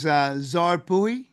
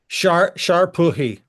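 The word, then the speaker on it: šar pūhi: Is Zar Puhi? Sharpuhi. Shar Puhi. That Shar is little like Prince. Yeah, yes, the little S with the hat on it is the shin sound.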